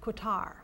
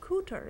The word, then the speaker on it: Kooter: You know, some people pronounce it Kutar, but Kooter is the way the people there pronounce it, or at least as close as I can get to that.